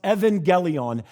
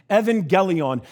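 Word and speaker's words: εὐαγγέλιον: go forward okay the first greek word is pronounced evangelion evangelion and this is the word that's sort of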